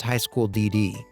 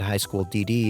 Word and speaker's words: High School DxD: Yeah, apparently it's actually pronounced High School DD.